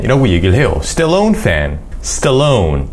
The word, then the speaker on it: Stallone: Stallone. 이렇게 강세를 넣어서 발음하면 우리는 잘 못 알아듣는 경우가 많아요.